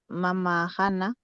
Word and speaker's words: mamajana: Ahora te falta esto, pronunciar. Este es na, por si acaso. Eso es importante. Mamajana, Ya.